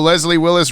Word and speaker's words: Leslie Willis: hip Leslie will oh Leslie Willis rhymes with Wesley Willis Rock and Roll McDonald's